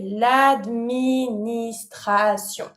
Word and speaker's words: l'administration: Same word, but of course careful, you have to pronounce it with the French accent. So, you're going to say l'administration.